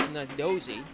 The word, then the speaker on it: Nardozzi: I keep trying to call him Nardozzi for some reason. It's Nardozzi. I've been corrected on that pronunciation.